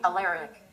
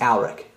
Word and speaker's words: Alaric: Hi, Alaric. Now Siri didn't pronounce my name right. It's actually pronounced Alaric.